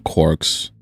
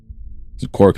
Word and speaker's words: quark: Quark meaning for one thing, the cry of the gull, was clearly intended to rhyme with mark as well as bark. Another such words had to find an excuse to pronounce it as a quark.